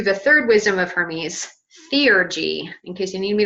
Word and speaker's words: theurgy: move on to the third wisdom of Hermes seer G in case you need me to spell that for you it's t-h-e you are G Y C like Co like divine ergy working so divine working Theor G literally means divine working and this is the